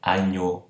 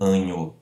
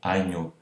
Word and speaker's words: agneau: Então, oral, agneau, e não anho, agneau.